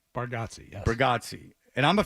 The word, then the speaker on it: Bargatze: Bargatze, yes. Bargatze. And I'm a fan of his, so I should know how to pronounce it.